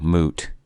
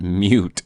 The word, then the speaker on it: moot: you Define moot moot it's no it's the way that it's spelled dude it's not mute mute I get it whatever